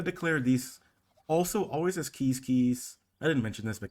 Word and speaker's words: Quizquiz: didn't mention this but keys keys is pronounced like you may pronounce a squish quiz and the achievement is quiz quiz pro quo but this actual pronunciation of this tribe is keys keys anyway as keys